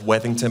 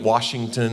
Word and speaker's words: Withington: name is webington uh it seems easy enough withington but I get Washington and Wellington and the worst is third grade